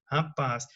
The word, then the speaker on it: rapaz: Palavras cuja sílaba tônica é a última, né? Por exemplo, funil, parabéns, rapaz. Veja bem, as que têm mais de uma sílaba classificam-se como oxítonas. Olha só, porque a sílaba tônica é a última. Não quer dizer que ela vai ser acentuada. Quer dizer que ela é mais forte.